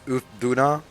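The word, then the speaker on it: Uth Duna: uh of these teams this is U Duna that's how you pronounce it U Duna is the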